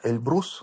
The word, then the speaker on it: Эльбрус: Эльбрус, говорят правильно, Эльбрус делать ээ ударение на второй слог.